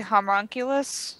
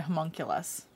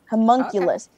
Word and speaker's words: homunculus: it's not what it is but i can't pronounce it because i see it in my inventory okay the homonculus servant or whatever oculus oh so you can create a homunculus homunculus yeah homunculus and that makes me want to say huncles